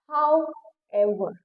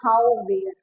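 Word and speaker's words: however: हाउ एवर ठीक है कुछ बच्चे इसे कहते हैं हाउ वेर राइट स प्लीज प्रोनाउंस द वर्ड प्रेसा इजली जिस तरीके से उसकी स्पेलिंग है उसको उसी तरीके से प्रोनाउंस करो सो द फर्स्ट इज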